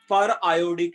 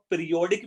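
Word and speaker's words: periodic: जैसे पर क्लोरिक है तो मैं इसको पढ़ना चाहिए पर आयोडिक एसिड, बट अगर इसको पीरियोडिक भी पढ़ रहा हूं तो सेम ही स्पेलिंग होगा बेटा, है ना। हाँ, मतलब मैं उसको हाँ, पीरियोडिक सर। भी पढ़ सकता हूं, बट उसका नाम पर आयोडिक है बेसिकली, है ना, पीरियोडिक नहीं है ना।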